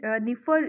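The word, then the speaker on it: Dnieper: ये निफर रिवर इसको बोलते हैं, ठीक है? यहाँ पे डी जो रहता है वो साइलेंट रहता है, तो निफर रिवर जो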